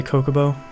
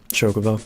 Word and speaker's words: Chocobo: things called salsa de cocobo Chocobo sorry I keep forgetting that it's not pronounced the way that I think it should be at least I'm in